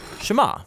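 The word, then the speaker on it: שמע: is hear or listen which in hebrew is pronounced shema that's where the prayer gets its name now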